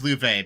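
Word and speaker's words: Loewe: Ah, Lou. Lou. Lu. I know. I've never know. I know it's a German name. It's like It means lion. I It the pronunciation. No, it's Louv because it's German.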